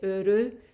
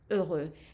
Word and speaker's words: heureux: countries, where the R is pronounced as an R, especially in Africa. So you may hear someone say heureux instead of heureux. And even in South France, the region that is near Spain, they pronounce the R as an R. So if you do, it's not a big deal. You can say heureux. However, I recommend that you learn how to pronounce that R, and I have a video about it.